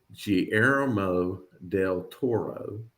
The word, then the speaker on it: Guillermo del Toro: And I looked this up, Guillermo del Toro.